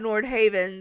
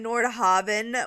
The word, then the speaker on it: Nordhaven: be Nordhaven, but we can see why you thought Nordhaven, so we're going to say either way is correct. But since they were saying that Nordhaven was the way it was supposed to be pronounced, I'm going to try to pronounce it that way.